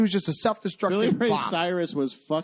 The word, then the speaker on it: Cyrus: there's a reason why his name is Cyrus and it rhymes with virus okay when you tell